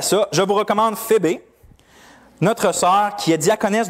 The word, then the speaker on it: Phébé: Ça peut être prononcé Phébé. J'avais discuté dans la classe cette semaine, justement. Il s'appelait comme ça? Pour vrai? Elle s'appelle Phébé, c'est une petite grecque. Phébé? Phébé. Ça se prononçait Phébé.